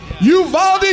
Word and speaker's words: Uvalde: It's pronounced. Uvalde, Texas!